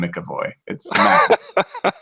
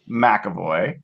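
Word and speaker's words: McEvoy: if you're going to call him mcavoy did i say it wrong yeah so it's tanner mcavoy and and uh i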